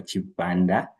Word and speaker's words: Chipanda: Uh as introduced, my name is Michael Michael Chipanda. Uh that's how we pronounce it here in Zambia.